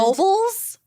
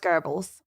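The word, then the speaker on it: Goebbels: Geral gerles JBL the Nazi GBL oh and Gobles yeah but it's pronounced garbles oh I didn't know that you got to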